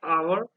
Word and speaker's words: hour: words like power honor the h is silent and you hear a vowel sound at the beginning you do not hear the heart hit sound that's why people say an hour and our honor unicorn